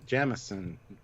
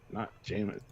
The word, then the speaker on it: Jameson: It's pronounced Jamison, not Jameson.